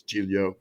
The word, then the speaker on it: Giglio: But now I correct everyone that it's Giglio.